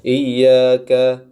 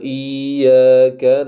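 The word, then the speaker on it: إِيَّاكَ: kita perhatikan di sini lafaznya adalah Iya tasydid diberikan penekanan bukan bacaan panjang Kemudian pada lafaz Dal domah itu jangan diberikan sedikit tahanan juga iyaka nabuduudu wa I seperti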